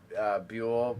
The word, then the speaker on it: Buell: is, it's Buell pronounced like buoy.